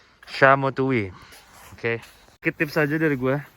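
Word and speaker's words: Szamotuły: Zamututi, kelihatannya kan? Tapi yang benar bacanya Zamutuwi, Shamotuwi.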